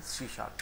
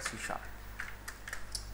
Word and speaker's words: C#: अब हम बात करेंगे यहाँ पे सी शार्प की. याद रखना इसको लिखा जाता है सी हैश, और जब हम पढ़ने की बारी आती है तो इसको हम बोलते हैं सी शार्प.